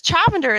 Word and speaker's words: Chavender: But yeah, so I tell you this because Chavender is spelled like lavender. Okay. Except a CH at the beginning.